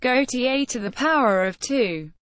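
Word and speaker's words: Gaultier²: In 2005, the unisex fragrance for humanity, Gaultier Squared, pronounced Gaultier to the power of 2, was launched, except in Canada, where it was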